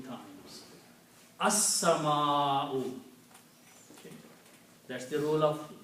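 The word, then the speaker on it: السماء: So whenever you have a seen here before lam, then sound of lam is killed.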